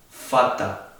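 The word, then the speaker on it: Vater: La B corta se dice V y no se pronuncia para nada como una B, sino como una F. Por ejemplo, en este caso se pronuncia fata, como una F.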